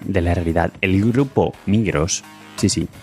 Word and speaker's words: Migros: El grupo Migros, sí, ya digo que voy a pronunciar la S en español.